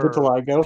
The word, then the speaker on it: vitiligo: This is just for Vitiligo. PR. Vitiligo. Yes. Yeah. I pronounce it correctly.